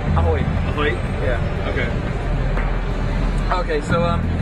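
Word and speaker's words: Ahoj: How is it pronounced? Ahoy.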